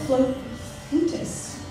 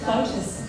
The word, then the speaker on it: flautist: As a flutist, it's spelled with an A, that's interesting. Flautist? It is said flautist, okay, thank you.